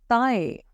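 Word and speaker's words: taille: तल next waste waste in French is ताय जो हमारी कमर होती है वेस्ट जहां पे हम बेल्ट पहनते हैं उसे हम कहते हैं waste okay in French waste is ताय again starting word is टी बट हम प्रोनाउंस करेंगे त ता है नेक्स्ट हमारा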